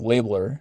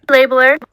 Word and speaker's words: labeler: If there is a stressed syllable, if there is an accented syllable in labeler, it would be the first one because that's the stressed syllable.